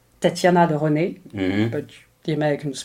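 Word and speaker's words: Tatiana de Rosnay: It's called Tatiana de René, but the Americans pronounce Tatiana de Rosny.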